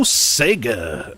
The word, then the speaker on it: Sega: thank you very much go Sega or Sega as our Australian friends would say Luke says that's what